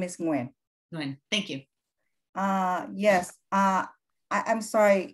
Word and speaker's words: Nguyen: can you pronounce your last name? Nguyen. The last name is Nguyen.